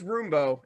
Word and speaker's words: Roombo: Okay, see, you said First Blood, and I thought you just mispronounced Rambo. No, it's Roombo. It's ROOMBO.